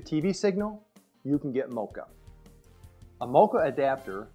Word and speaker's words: MoCA: do it it's called mocha it's pronounced just like the chocolate coffee drink mocha what is mocha you